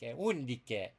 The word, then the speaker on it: Undique: In Latin you pronounce it more like an Italian, like Undique.